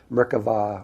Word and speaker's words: Merkava: Well, the word Merkaba, actually, if you take it in Hebrew, Merkava or Merkaba is how it's said in Hebrew.